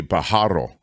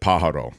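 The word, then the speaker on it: Pájaro: so you are well the emphasis is on the first syllable that I've heard it said that way in Spanish it would be to be fair it would be Pajaro but but but I think they say it Pajaro I don't know you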